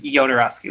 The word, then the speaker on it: Jodorowsky: There's several different ways people pronounce his name as well, depending on who you're talking to. But I believe the correct way is Jodorowsky with a Y sound.